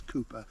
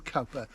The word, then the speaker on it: Richard Cowper: icon and Richard Culper the correct pronunciation is Cooper I call him copper just so that you can get the spelling right c o w p